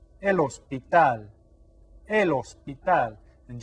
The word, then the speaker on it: hospital: El hospital. And just like hermano and hija, we don't pronounce the H.